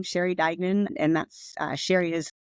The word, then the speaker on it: Sheri Duignan: have a YouTube channel it's just my name Sher Dagan and that's Sher is it's spelled I think down here but s h